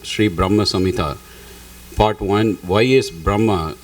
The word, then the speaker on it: Brahma Samhita: whole bunch more it's just that's pronunciation it's Brahma Samita okay let me see